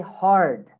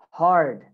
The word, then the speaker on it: hard: So first difference, in British English, you don't say the R, okay? But in America, we say the R. Example, in words like here. So the word hard, okay? Listen, my accent is American, so I would say hard, hard. Can you hear the R sound?